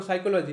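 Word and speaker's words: psychology: রাখতে হবে যেমন ধরো সাইকোলজি মানে যে পি থাকে পি টা কিন্তু তুমি যতই উচ্চারণ করো সাইকোলজি সেখানে কোথাও পি নেই প এর কোন জায়গা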